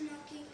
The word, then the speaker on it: knocking: ठीक है, क्या इसमें क्या साइलेंट है? K. के साइलेंट है।